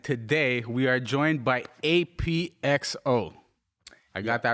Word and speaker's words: APXO: nice yeah okay i my name is written apxo but it's actually just pronounced ap ap ap yeah it comes from